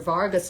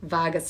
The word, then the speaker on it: vagus: directional pathway along your vargas nerve by the way um and i have it's not even vargas i looked it up and then i said it wrong anyway vagus nerve um but they're